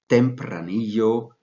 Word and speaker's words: tempranillo: it's Mallorca so therefore tempranillo should be pronounced properly as it sounds in Spanish other red grape varietals